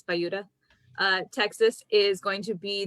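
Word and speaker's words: Buda: I always want to call it Buddha because it's spelled like Buddha, but it's Bayuda.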